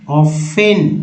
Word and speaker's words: often: जी हाँ, सो इसे पढ़ेंगे ऑफेन टी का उच्चारण नहीं करेंगे, टी का उच्चारण नहीं करेंगे, पढ़ेंगे ऑफ।